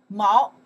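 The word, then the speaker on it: 毛: Okay, the character is pronounced. Mao in U.S.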